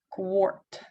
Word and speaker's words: quart: Потому что AR также может читаться не как R, а как OR. Wart, warm, бородавка, wart, warm, теплый. Quart.